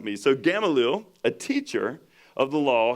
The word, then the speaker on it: Gamaliel: like he was from indian trail so that's gamalil that rolled off the tongue way too easy for someone like me so gamaliel a teacher of the law held in high